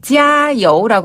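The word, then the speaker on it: 加油: 찌아우라고 하는데요. 그래서 찌아 여우 할 때 찌아는 같은 음으로 고르게 길게 찌아. 그리고 여우는 밑에서 위로 여우 여우.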